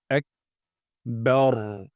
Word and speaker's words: আকবার: হবে আল্লাহু তারপর আকবার এখানে র মোটা করতে হবে অর্থাৎ বা চিকন র মোটা আকবার আমরা এভাবে